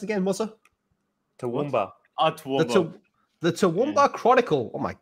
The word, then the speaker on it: Toowoomba: How's this area pronounced again, Musa? Toowoomba.